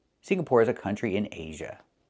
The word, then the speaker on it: Singapore: I cannot pronounce the country Singapore. It's not Singapore, it's Singapore. The NG makes a sound in your nose. Sing, like when you sing a song. Together, Singapore. Not Singapore, but Singapore. Singapore is a country in Asia.